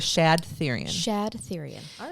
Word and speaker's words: Shad Thyrion: I want to talk to you about Chad Thyrion. Chad Thyrion. Shad. Oh, Shad. I pronounced it wrong. It was Shad Thyrion.